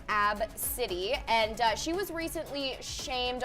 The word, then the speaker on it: ABCDE: ABCDE yeah that's how you spell it it's pronounced AB City and she was recently shamed online from not